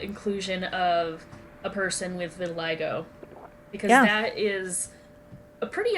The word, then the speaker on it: vitiligo: a bitter little vitiligo i can never ever in my life pronounce that every time i never pronounce it right vitiligo has it and that's the only reason i know yeah it's vitiligo so again it's it